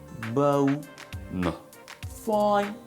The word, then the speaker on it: bona fide: People say bona fide. It's a bona fide candidate. It's a bona fide person. It's a bona fide situation. Okay, how is it pronounced correctly? Say bona fide. That was not funny. Bona fide. Bona fide. Bona fide. Bona fide. Bona fide. Or you can say bona fide.